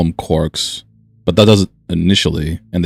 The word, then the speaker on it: quark: Quark meaning for one thing, the cry of the gull, was clearly intended to rhyme with mark as well as bark. Another such words had to find an excuse to pronounce it as a quark.